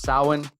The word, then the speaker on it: Samhain: According to the video, it started in a day called Samhain. It's pronounced Samhain.